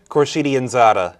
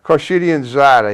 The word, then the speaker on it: Khorshidianzadeh: roland how do you say your last name corsidianzada corshidian zada he's uh i i guess my tech matt